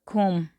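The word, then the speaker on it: קוּם: Esa palabra es kum. Así es como se pronuncia. Kum.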